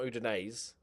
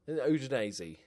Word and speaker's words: Udinese: Okay, all right, so immediately, we don't want B teams, but immediately, Udinese, that's how you pronounce it, it's not Udinese, Udinese, is available.